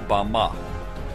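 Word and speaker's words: במה: the Strong's Hebrew Dictionary, and it is pronounced Bama.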